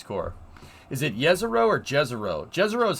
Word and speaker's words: Jezero: It's pronounced Jezero.